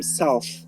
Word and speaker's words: south: On observe super bien cette règle avec un mot comme south, où le TH va se prononcer th parce qu'en fin de mot, mais dont le TH va se prononcer the dans southern, qui partagent pourtant la même racine.